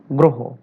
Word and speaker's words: গ্রহ: 7, রফলা যুক্ত আদ্য অ এর পরে এর উচ্চারণ সাধারণত ওকারের মতো হয়। লক্ষ্য রাখো, রফলা যুক্ত আদ্য অ এর উচ্চারণ সাধারণত ওকারের মতো হয়। যেমন গ্রহ, কেন বলা হলো রফলা যুক্ত আদ্য অ?